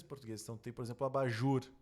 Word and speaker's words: abajur: não tem por exemplo abajur abajur olha só a sílaba tônica sendo a última sem croissant a sílaba tônica é a última então tu percebe que